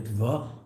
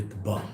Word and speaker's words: Ritva: Ashkenazim call him the Ritva, and Sephardim call him the Ritba.